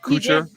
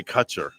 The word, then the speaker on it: Kutcher: of them ashton kutcher did i say it right koocher i used to say cutcher i know kucher ashton